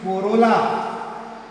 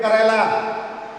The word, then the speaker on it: corolla: Don't read it Kerala. It is not Kerala.